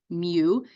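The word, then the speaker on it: μ: population mean is Mu it's Greek letter M pronounced Mew and it kind of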